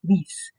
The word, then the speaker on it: lies: But in the third and the second and third singular, they get changed to the stem change, L-I-E-S, which looks like the word's lies, but it's pronounced lease.